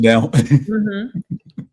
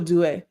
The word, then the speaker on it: Due: I want to make sure you get the pronunciation down. Or it could be Do or Due.